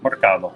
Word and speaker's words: Mercado: Mercado. Mercado. Mercado. Think of market. Yeah. Mercado. So it's like it's breakfast, like lunch, and market dinner. pronounced in- Yeah, it's the Spanish version of market.